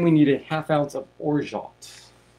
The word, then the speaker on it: orgeat: And then we need 1/2 ounce of orgeat. Or some people are pronouncing it orgeat or orgeat.